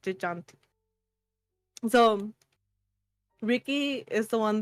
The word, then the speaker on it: Gigante: That's how they say it, like Gigante.